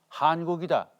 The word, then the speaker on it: 환국: 이걸 환이라고 발음하지 않고 한이라고 한국이다.